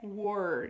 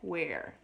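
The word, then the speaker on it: were: e dei World tá a pronúncia é War não é where é muito bem bom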